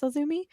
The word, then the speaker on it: AZM: AZM, but it's pronounced Azumi. Maybe. I hope I'm pronouncing that right. Again, I apologize if I butchered that. No, that sounds right. Azumi I thought AZM was initials, and I did not realize it was pronounced Azumi.